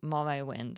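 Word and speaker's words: Morrowind: someone needs to write the Game Morrow mind pronounce it Morrow wind okay Morrow wind can't wait to see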